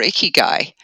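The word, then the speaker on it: ikigai: can make money at, and you find your iky guy.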